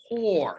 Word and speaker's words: corps: call the civilian conservation core not corpse it's pronounced core c-o-r-p-s so another thing you